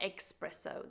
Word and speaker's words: espresso: be said espresso and not espresso there's no X in the word our final word that